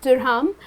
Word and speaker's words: dirham: In UAE, we use dirham. Okay that's how it's pronounced, dirham. The ISO code for dirham is AED.